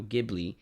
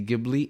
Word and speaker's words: Ghibli: Today we're going to be talking about one of the most important studios of all time, Studio Ghibli.